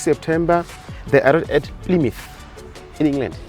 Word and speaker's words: Plymouth: So 6 September, they arrived at Plymouth in England. Here we say Plymouth, but the British say Plymouth.